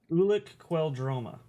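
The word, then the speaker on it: Ulic Qel-Droma: I need you to pronounce C for me because I definitely botched that one. Ulic Queldroma.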